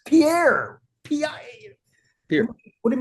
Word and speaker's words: Pierre: Like the first time I ever learned that the capital of South Dakota is Pierre, not Pierre. I thought, you guys are nuts. It's Pierre.